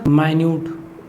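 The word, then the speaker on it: minute: हो, सेम होती हूँ, जैसे कि हमने बोल दिया माइन्यूट, ठीक है, या तो माइन्यूट इसको हम बोलेंगे और इसको हम मिनट भी लिखते हैं, ठीक है। देखो स्पेलिंग क्या है, स्पेलिंग दोनों में सेम है ना, MINUT, इसमें भी सेम स्पेलिंग और इसमें भी, मगर इसका साउंड मिनट हो गया, इसका माइन्यूट हो गया, ठीक है।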